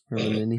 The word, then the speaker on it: Hermione: He kept calling her Hermione. Hermione. Hermione, she said slowly and clearly.